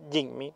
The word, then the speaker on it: Jimny: Creo que se pronuncia Jinmy, no Jimmy, pero no haberme equivocado.